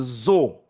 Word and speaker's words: zo: So O is pronounced O. Let's say O. O. Right? So this is zo. So. Zo. Right?